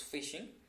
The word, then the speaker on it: phishing: be discussing what is fishing and the fishing it pronounced like the word fishing okay so fishing is